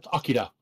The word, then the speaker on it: Akira: to steal your thunder pronounce it correctly it's it's it's uh akira oh akira oh sorry hey i still see akira i just say akilo when i talk about the movie here's another show about